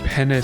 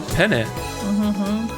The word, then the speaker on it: penne: Looks like he's holding penne spaghetti. He is definitely not holding penne spaghetti. And it's also called pen. No, penne. That's how it's spelled.